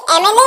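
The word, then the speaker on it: MLA: देखिए यहाँ पर एम एल ए, आप कहते हैं एम ए से शुरू करते हैं एमएलए को, एम ए, तो ए जो है ये एक वोवल का साउंड है, इसीलिए आप एन का प्रयोग करते हैं।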